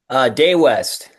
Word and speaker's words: Dea West: I just want to get some pronunciations out of the way. Is it DEA WEST? DEA WEST.